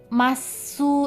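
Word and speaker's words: ます: Hai, sebenarnya masu itu dibaca cuman u-nya tenggelam. Ya, jadi u-nya masuk ya, masuk. Nah, kayak gitu. Kalau kalian bisa boleh, tapi kalau enggak nanti aneh. Lebih baik u-nya dihilangkan saja, tidak usah diucapkan.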